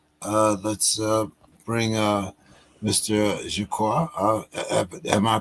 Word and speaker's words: Jaqua: Ado uh the Let's uh bring uh Mr jaqua uh am I pronouncing that correctly sir uh actually you pronounce it jaka but that's okay nobody gets it right the